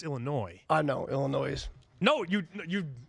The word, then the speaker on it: Illinois: You feel the noise, but it's Illinois. I know, Illinois. No, you butchered No, I know.